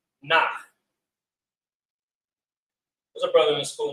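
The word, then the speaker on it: נח: And Noah's name is pronounced Nach.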